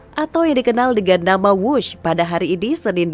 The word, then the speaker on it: Whoosh: sistem hebat sekali lagi w h o o s h tapi membacanya wus selain memiliki nama yang